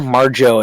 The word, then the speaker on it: Marjoe: um we also got marjo gortner marjo it's spelled really weird different for me m-a-r-j-o-e-marjo he is the uh